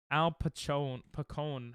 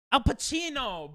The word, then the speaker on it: Al Pacino: Al Pacone. How do you say his damn name? Al Pacino, bro.